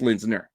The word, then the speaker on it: Linsner: Yeah, it's Linsner.